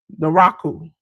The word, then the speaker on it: Naraku: J News, I pronounce this wrong every time since he done been here. Because I want to call him evil. Naraku. Yep, that's how you say it.